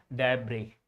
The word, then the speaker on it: debris: This is debris. This is debris, not debris. Not debris. Here, debris is a is an incorrect pronunciation. That's absolutely incorrect. Not debris. No S. This is debris. S is silent here.